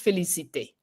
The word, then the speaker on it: Félicité: As Empress, she's Empress Félicité.